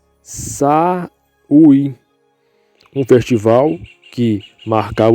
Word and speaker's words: Samhain: Eles celebravam o Samhain. Se pronuncia Samhain, um festival que marcava o fim do verão e o início do inverno, noite de 31 de outubro.